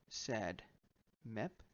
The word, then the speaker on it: SADMEP: discuss this over here sad met or well pronounced sad met does this look familiar